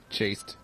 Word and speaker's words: chaste: Because it's chaste acres. I'd say chast. Wait, how do you pronounce that word? Like... Chaste. Is it? Because it's chastity. Yeah, but I think it's pronounced chaste.